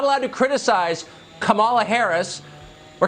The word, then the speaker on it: Kamala: um host on Fox her name is pronounced comma like the punctuation mark La comma okay seriously I've